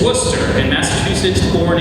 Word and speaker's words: Worcester: David Wor, his major distinction is if you wondered how to pronounce the town that looks like it's spelled Forcester, that's how you do it. It's Worcester in Massachusetts born in England.